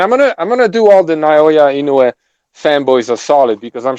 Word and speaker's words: Naoya Inoue: I said that from the very beginning, and I'm gonna do all the Naoya Inoue fanboys are solid because I'm sure you guys don't even know how to pronounce his name.